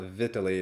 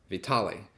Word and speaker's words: Vitaly: you'd like third thing i mispronounced his name i guess it's not vitally it's vitale fourth thing yeah i'm